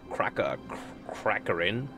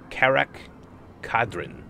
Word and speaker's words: Karak Kadrin: Jimmy Crackhorn, Crackerin, Karak Kadrin. There we go. Just for you guys, I took time to pronounce it.